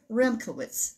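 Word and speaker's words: Remkiewicz: frank and i think his name is pronounced remkowitz as far as i can find out puffin books is the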